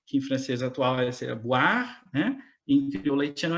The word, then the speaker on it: boire: Você vê um O e um I, e a pronúncia não é oi, é o, a, o a, né?